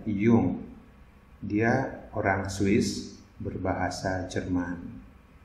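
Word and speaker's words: Jung: sebelah kiri kita kalau Gustav Yum bacanya begitu ya Hyung dia orang Swiss berbahasa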